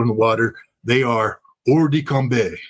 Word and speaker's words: hors de combat: the water, they are hors de combat. That's the French pronunciation of what we Marines would like to say hors de combat.